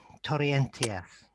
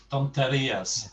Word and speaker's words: tonterías: No me gustan cuando dis torrentias. If that's how you pronounce it. Tonterías.